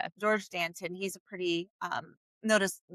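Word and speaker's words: Georges Danton: Well, you don't pronounce the S, but it would just be like Gor Dant. Dan, let's just call him Danton. Yeah, George Danton.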